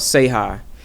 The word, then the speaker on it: SEH: K-Quan runs an event in New York, a series called Say Hi, and it's spelled SEH.